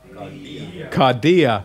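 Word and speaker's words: καρδία: one okay now do it with the accent kardia what does it mean heart yeah cardiovascular and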